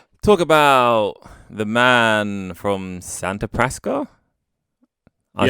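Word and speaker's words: Santa Prisca: And this episode, we are going to talk about the man from Santa Prasca.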